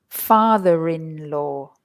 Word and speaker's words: father-in-law: However, when we add the word in-law to them, you will suddenly hear that we pronounce the R again. Listen, mother-in-law, father-in-law, daughter-in-law.